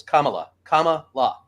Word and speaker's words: Kamala: It's Kamala. And then people get pissed off if you don't say it that way because all right, Kamala. But because Trump purposely says it wrong all the time.